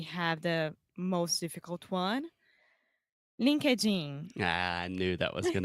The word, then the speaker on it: LinkedIn: So the first part is when you say linked, you are just adding a T sound after the K.